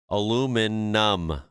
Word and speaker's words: aluminum: We're using the OG spelling, which doesn't have an I at the end. Aluminum. That's why we say it like that.